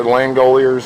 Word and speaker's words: Langoliers: how you pronounce it? Langoliers or Langoliers? Langoliers.